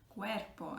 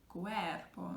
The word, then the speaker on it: cuerpo: Or we had the word like cuerpo, again ending in a vowel, or cuerpo, and the stress is on e.